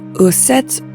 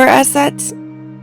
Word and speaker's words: Isis: The original Egyptian pronunciation was probably closer to uset or asset, but since hieroglyphs largely did not indicate vowels, the Greeks inserted vowels that sounded natural to them, resulting in the name Isis.